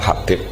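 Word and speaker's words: Hubaib: Itu di harakatnya kitab itu ada yang nulis khubab. Yang benar Oh, nggih. Yang benar itu bacanya Habib.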